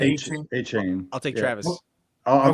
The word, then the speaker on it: Etienne: Travis Etienne? Etienne. A-Chain.